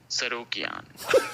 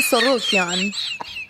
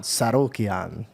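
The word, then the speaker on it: Tsarukyan: It's hard to pronounce his last name. Hold on. It's okay. I thought it was super cute. Arman Sarukian. Arman Sorokian. Now you say it. Arman Sarukian.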